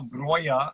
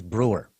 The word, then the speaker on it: Breuer: That is Oi, and you are Breuer, and you come from the north. Yes. You should have told him. The proper way to mispronounce it is Brewer.